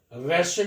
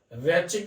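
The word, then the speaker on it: Raschig: Next reaction देखते हैं, रैशिक अभिक्रिया। रैचिक भी बोलते हैं इसको, रैशिक भी बोलते हैं, राशिक भी बोलते हैं इसको।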